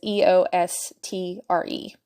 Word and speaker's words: Eostre: The name of the pagan holiday Ostara is spelled O-S-T-A-R-A, based on the pronunciation of Ostara's name, which her name is Eostre.